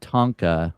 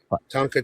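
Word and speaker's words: tanka: Yeah, I wrote a Tonka, which is very similar to a haiku. It's a tonka track.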